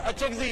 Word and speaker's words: اچکزئی: اگر تلفظ میں کچھ پرابلم ہے ہمیں کہیں, ہم آپ کو سکھا دیں گے. وہ اچکزئی ہے جی, اچکزئی نہیں ہے, آپ کی نالج کے لیے.